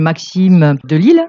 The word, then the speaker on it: Maxime De Lisle: Bonjour du Festival de journalisme à Couture et nous avons plaisir aujourd'hui de recevoir Monsieur Maxime Delisle. Bonjour. Je le prononce bien ?